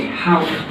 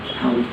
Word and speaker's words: helped: If the last letter of the word ends in a voiceless sound, like the P in help, then the ED is pronounced as a T sound. So help becomes helped. It is important to know that we do not add an extra syllable. With the word help, we say helped, which is 1 syllable, and not helped, 2 syllables.